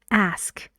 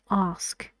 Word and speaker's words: ask: For example, the word ask a question. Ask is American pronunciation for this word. In British English, we say ask.